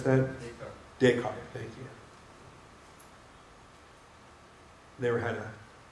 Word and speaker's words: Descartes: How do you pronounce that? Descartes, thank you.